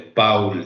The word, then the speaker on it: Paul: No se pronuncia Paul, es Paul Schreber, ¿sí? Porque es alemán.